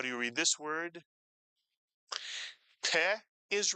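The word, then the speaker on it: פה: Another Hebrew word, one syllable, with the pei. How do you read this word? Peh is right, peh.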